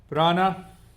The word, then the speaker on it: prana: Prana. Prana is a word, Sanskrit word. It has two syllables, prana.